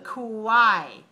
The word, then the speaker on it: quiet: It sounds like a k, k. Sounds like the letter K and the letter W, w, k, w, quiet.